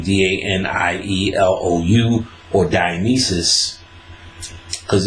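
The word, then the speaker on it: Daniélou: Ecstasy Traditions of Shiva and Dionysus by Alan Dandalou, Alain, last name Danielou, or Dionysus, because it's pronounced Dionysus sometimes and Dionysus.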